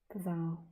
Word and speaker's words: Pavel: Paul. Oh, you pronounce it Paul? Or you pronounce it Pavel? Pavel.